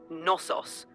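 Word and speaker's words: Knossos: pronunciation in English is nosos with a silent k it's understandable that you'd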